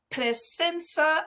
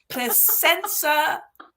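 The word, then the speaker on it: Presença: to face hosted by presenca i always have to say it like that because otherwise it sounds like placenta so presensa online magazine okay you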